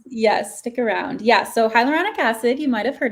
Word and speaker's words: hyaluronic: and dynamic in the skin but hyaluronic it's hyaluronic acid itself say that it's not right I